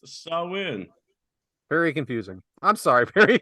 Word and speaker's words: Samhain: three weeks right and although it is spelled differently it is pronounced sawin very confusing I'm sorry